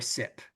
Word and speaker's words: CYP: Um, is the cytochrome P450 system and we tend to abbreviate that like CYP or SIP is typically how we pronounce that.